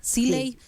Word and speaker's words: Cilley: Está bien pronunciado, ¿no? Tu apellido, Siley. Bien.